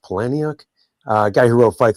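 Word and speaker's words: Palahniuk: Um I think it's actually pronounced Palani.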